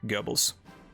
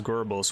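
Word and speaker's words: Goebbels: mormon himmler spear and gobbles americans sometimes pronounce it as gerbils which is really weird i'm gonna go um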